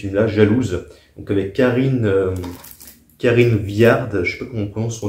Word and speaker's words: Karine Viard: pas le dé de Karine billard donc je sais que ça se prononce Karine Viard et Pavillard voilà c'était une